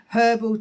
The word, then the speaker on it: herbal: And there's herbal teas, we can pronounce the H here, herbal teas to be given to you.